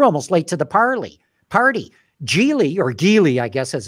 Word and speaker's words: Geely: Geely, I guess, as it's properly pronounced, already bought a drone company.